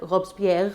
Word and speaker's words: Robespierre: And mind you, that was because those who then took power, not Napoleon, those before him, like Robespierre, I think is how you say his name, a lawyer, a fellow lawyer, were corrupt as well.